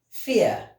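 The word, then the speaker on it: vier: Fear. Fear. 4, we pronounce it as fear. So the V, we read it as vowel in the German language.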